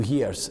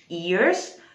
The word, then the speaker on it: years: employed the last two years about brexit this was pretty much a good sentence there is the need that's very good uh unfortunately he said years instead of ears but it was absolutely